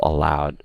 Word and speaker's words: aloud: be allowed yes because the others the other words are stressed on the first syllable while aloud is obviously on the second syllable okay so aloud is